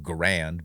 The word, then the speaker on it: Garand: the garand came along grand most people pronounce it grand but i guess the guy's name was garend who invented that auto loading